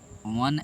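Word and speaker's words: one: इट इज़ वन act play, तो ए वन एक्ट होगा, वो देख के एन नहीं लगाना, वन पढ़ेंगे इसको, वन, तो हमारा प्रोनाउंसिएशन में वो आएगा, ठीक है।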